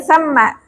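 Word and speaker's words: ثَمَّ: Tadi bacanya banyak yang salah. Tsumma ya. Tumma. Kemudian tsamma. Ini bukan tsumma ya. Naam. Bukan tsumma tapi tsamma. Huruf sa di sini adalah maftuhah berharakat fathah Musa maahu ajmain.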